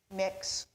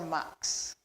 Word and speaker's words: Mx: there on the screen pronounced three different ways either mx mix or mux you know we often